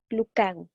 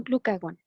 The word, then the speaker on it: glucagón: No, no lleva acento en la O, por lo tanto, no se pone la sílaba tónica ahí. Se llama glucagón, no glucagón, ¿vale?